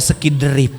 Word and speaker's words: Skydrive: skiderif opo skidriif rupanya merek motor Suzuki Skydrive bacanya skidriif Lailahaillallah ini barokahnya seiderip